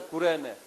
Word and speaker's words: Cyrene: हुन्छ Siren, that's a Kurene. It's Y, in English called Y, but actually Y pronounces U. So, Ku-re-ne, like that.